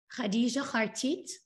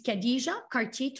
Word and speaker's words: Khadija Khartit: My name is Khadija Khartit, for the people who can pronounce the kha, and it's Khadija Khartit for the US where